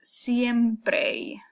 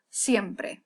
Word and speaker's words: siempre: is often pronounced by American speakers as siempre. They kind of do this long E, siempre, okay? We want to make it short, we want to make it crisp, we want to make it one single sound.